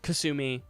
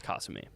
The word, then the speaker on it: Kasumi: So the game says Kasumi, which is wrong. I've always said Kasumi. Yeah, That is because factually wrong. the actual correct pronunciation is Kasumi.